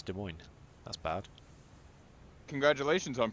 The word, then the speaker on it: Des Moines: kilometers Japanese like their Torpedoes oh yes it's Des Moines that's bad congratulations on pronouncing it correctly good job you get a